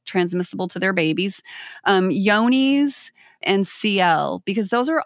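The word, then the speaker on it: Johne's: especially for yoni's and yoni's is spelled with a j it looks like john's j-o-h-n-e-s but yoni's is fecal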